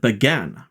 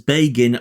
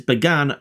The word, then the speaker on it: Bagan: Let's continue with Bagan. Bagan, which my British brain really wants to pronounce as Bagan like the character Fagin from Oliver Twist, but I will refrain from doing so, first appeared in the